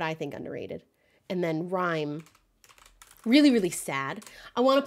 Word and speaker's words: Rime: Oh, Rime is spelled R-I-M-E. Weirdly.